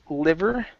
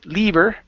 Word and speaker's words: liver: go to the word liver I believe is our next one uh yes okay instead of Le lever okay liver liver okay good and the